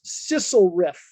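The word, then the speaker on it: SLFRF: local fiscal relief funds which we pronounce sissel riff sissel riff has five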